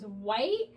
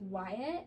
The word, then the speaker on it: Wyatt: this is my boy, and Ava goes, White, and Wyatt goes, actually it's pronounced Wyatt.